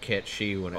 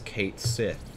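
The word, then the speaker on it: Cait Sith: I hate that bad name is pronounced cat she hates it you Japan there's a character in Final Fantasy 7 oh hey Mad Hatter catchy but the way it's spelt is Kate sit oh the AIT okay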